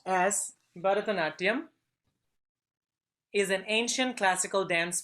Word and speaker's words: Bharatanatyam: Bharatanatyam, pronounced as Bharatanatyam, is an ancient classical dance form from India.